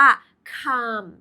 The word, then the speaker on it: calm: เมื่อ สัก ครู่ นี้ c a LM อ่าน ว่า คาม เช่น มหาสารคาม แต่ คำ นี้ อ่าน ว่า ความ แล้ว ความ หมาย มัน ตรง